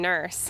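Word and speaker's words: Nourse: And that is why if you ever meet Tim Nurse, he pronounces his name without the O because uh his family moved to Westboro to flee after all of the uh Salem witch trials went down.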